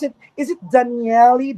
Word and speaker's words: Dañelle: I'm wrong yeah um actually a lot of people are having a hard time pronouncing my name but you can just call me Dane or Daniel let's pronounce as Daniel oh Dan or hello